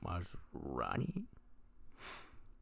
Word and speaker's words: Maslany: Tatiana Maslany.